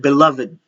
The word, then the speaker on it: beloved: one, all right, because there are two ways in which you can pronounce this word. You can actually pronounce this using the word beloved, beloved, beloved. Look at my pronunciation. Beloved, beloved. All right. So beloved dove. You can actually pronounce it that way because it will also be acceptable.